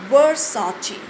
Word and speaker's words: Versace: Let's see how to pronounce the name of famous luxury and fashion Italian brand VERSACE with the typical Italian pronunciation Versace. Italian pronunciation is your Versace and the American pronunciation is your Versace.